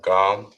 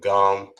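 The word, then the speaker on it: גם: Now we have gam, not gum like you're chewing gum, but gam as in spelled in G-A-M.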